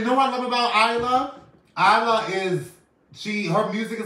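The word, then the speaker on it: Iyla: We have Isla. Isla. You just effed me up with that. Isla. Listen, everybody on Facebook, everybody on Instagram, listen to this. If you haven't heard of Isla, her name is spelled I-Y-L-A.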